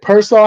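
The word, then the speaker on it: Pearsall: Um, I wanted to ask you first, Trent Williams and Ricky, is it Persaw? How you say his name? Pieraw. Pers. Pier. Pier.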